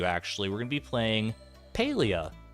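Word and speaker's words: Palia: we're gonna be playing paleo I believe is how you pronounce it my brain keeps wanting to say polia but I believe is Paleo it is a farming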